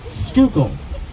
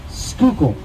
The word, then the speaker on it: Schuylkill: in case you're wondering how the hell you're supposed to pronounce that river on the left end of your maps schuylkill not chihuahua kill or whatever it looks like it should say schuylkill alrighty folks we've got